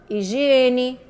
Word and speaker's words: higiene: algumas palavras com H higiene Hospital homem horário hora humano Helena harmonia e Ena herança Hotel helicóptero hélice herdeiro e Harpa todo de todas essas palavrinhas a gente não escutou nenhum sonzinho no H escuta só o som